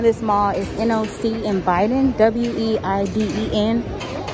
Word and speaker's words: Weiden: mall is noc and biden w-e-i-d-e-n in germany they pronounce their w's with a v so i'm here right